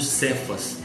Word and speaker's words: Cefas: né Sefaz também né o nome dele é pronunciado no grego por cefas né então esse Simão